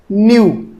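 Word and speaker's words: nu: और इसको, इसका प्रोनाउंसिएशन है न्यू। न्यू का मतलब नया मत समझ लेना, न्यू प्रोनाउंसिएशन है, इसको बोलते हैं न्यू फ्रीक्वेंसी को।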